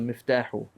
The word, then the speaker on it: مفتاحه: I didn't hear it on the miftahu. مفتاحه. That's right. هذا مفتاحه. It sounds hard to say, but that's how you say it.